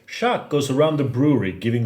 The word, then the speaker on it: Sjaak: age stout with madagascar vanilla and it says shaq goes around the brewery giving thumbs up to